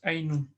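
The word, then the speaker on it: عَيْنٌ: First singular is aynun. Right? Aynun. Plural is uyunun. But here, obviously, eyes come in pairs. So we will say my mother's eyes, we're going to use dual. What's the dual of aynun?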